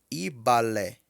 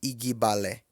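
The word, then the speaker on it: igbálẹ̀: Escreve-se o GB junto, mas ele tem um som único. É um som de B estourado. Então, vassoura escreve-se igbalé, mas pronuncia-se ibalé. Ibalé. Não pronuncia-se igbalé. Pronuncia-se ibalé, porque é um B estourado. Coloca o lábio inferior para dentro e deixa ele estourar.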